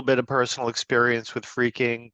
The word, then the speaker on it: phreaking: of personal experience with freaking which is spelled p h re a k i n g um and that really stems from the word phone um that the pH